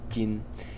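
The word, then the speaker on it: 巾: element is this element over here which is pronounced chin and its meaning is this is the semantic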